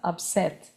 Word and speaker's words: upset: So upset with the stress on the second, upset.